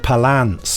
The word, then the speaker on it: Palance: I think you'll find it's pronounced Jack Palance is how he used to say his name.